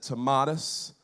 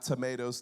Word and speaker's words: Tomatis: I said Tomatis. Not tomatoes, Tomatis.